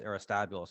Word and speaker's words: Aristobulus: be upset in 104 aristobulus the first as in my great name arista bolas i've heard her pronounce erastabulous also but he calls himself